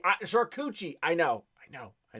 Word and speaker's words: charcuterie: for you dude uh it's pronounced charcuterie charcucci i know i know